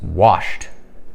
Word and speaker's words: washed: Nosotros decimos washed. No hay que agregarle ese sonido de it porque wash no termina ni en t ni en d.